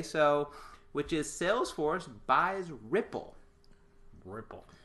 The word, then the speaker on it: Rypple: a client today so which is Salesforce buys Ripple Ripple Ripple that is the way it's pronounced right r-y-p-p-l-e sounds right for me Ripple